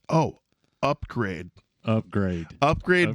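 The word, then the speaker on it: Upgrayedd: it's oh upgrade upgrade upgrade but it's spelled upu p g r a y e d d upgrade so yeah that's quite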